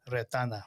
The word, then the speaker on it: Retana: Retana. There it is. my God. Ratana. Retana. Oops. That's some, You can roll your R's if you want.